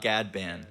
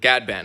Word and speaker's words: Ghadban: amazing guest tonight I never asked you the pronunciation I want to make sure I get that right yeah it's a gadband gadband okay so I I was I was right